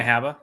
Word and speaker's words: Habba: And then Alina Habba? Is that how you say her name? Yeah, Alina Habba.